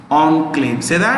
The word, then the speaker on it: enclave: l a v e it's a french word pronounced on claims so remember one claim enclave enclave enclave enclave